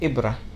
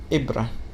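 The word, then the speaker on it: إِبْرَة: us the a and we can have it with a kasra and also the hamza in this case would be under it so it would be like e e like in the word ibrah ibrah which means needle and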